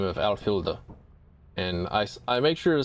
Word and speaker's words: Alfhilda: And so I've listened in on the stream enough to know her name is Alfhilda, and that's how she pronounces it, Alfhilda.